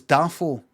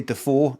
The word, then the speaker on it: Dafoe: Oh, during an interview, he explained that about half of the Defoe family puts the emphasis on the first syllable of their surname, so it's Dafoe. Oh, and the other half put it on the second. So half of them say Defoe, another half say Dafoe.